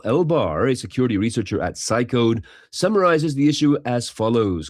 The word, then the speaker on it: Cycode: Researchers at Cycode, C-Y-C-O-D-E, have disclosed a chain of flaws in